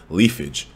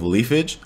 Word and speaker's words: Leafage: And then we can see that he also has a brand new move called Leafage. I think that's the way I pronounce it.